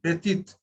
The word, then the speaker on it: petite: So whenever there is an E at the end, the previous consonant is pronounced.